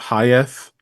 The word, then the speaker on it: Hayeth: how to pronounce it, think of like Mike Tyson saying hi, yes, and you've said it correctly.